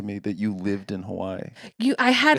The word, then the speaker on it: Hawaii: I did a couple spots in Hawaii that were just That's very always silly. so interesting to me that you lived in Hawaii.